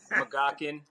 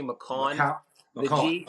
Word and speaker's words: McCaughan: different pronunciations you had makan Mogan mallan all all that good stuff it's actually mcon G the G's actually kind of silent in there um but when I